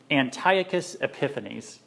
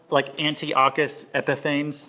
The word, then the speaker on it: Antiochus Epiphanes: This time it's about a Greek man named Antiochus Epiphanes. That's his name right there. I know you want to call it Antiochus Epiphanes. That's what it looks like. It's actually pronounced Antiochus Epiphanes. Try saying that.